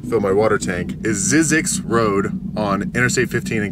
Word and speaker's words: Zzyzx: today after I fill my water tank is zizzix Road on Interstate 15 in California and it's spelled zzy ZX Road and yes it is